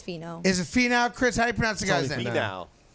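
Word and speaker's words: Finau: how to pronounce that it's fee now Tony fee now Pony fee now I'm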